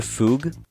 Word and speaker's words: Fugue: back tingyun 2.0 or fug apparently that's how you say her name is going to return